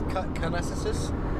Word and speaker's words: Kananaskis: It's Kananaskis.